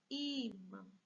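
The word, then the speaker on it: ímã: Mas como nós temos alguém mais forte que o tio, então, imã. O i, penúltima sílaba, é paroxítona.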